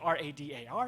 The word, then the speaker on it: radar: I don't say R-A-D-A-R, no, I say radar.